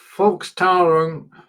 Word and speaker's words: Volkstrauertag: So you've got Volk, you've got Trauer and Tag, and the S is purely there so that you can actually pronounce it as one word.